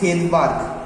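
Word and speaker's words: Svedberg: মানে এই এসটা থাকে silent, this S always remain silent, ওকে? তাহলে এসটা সবসময় কিন্তু সাইলেন্ট অবস্থান করে। তাই আমরা যখন বাংলা উচ্চারণ করি বলি ভেদবার্গ, কিন্তু যখন ইংরেজিতে লিখি তখন লিখি এস।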